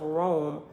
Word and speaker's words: Roam: established the mountains of rome r-o-a-m like rome we're gonna roll on down the street roam from country to country that's what it's called rome and it's spelled like that so brahma did as